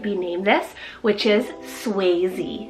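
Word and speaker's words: Swayze: Berlin's sister could be named this which is suy spell s w a y z e suy I think this is probably one of the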